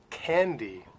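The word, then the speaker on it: Kandy: go to sri lanka is called candy except they spell it with a k' instead of a c' in candy of course you can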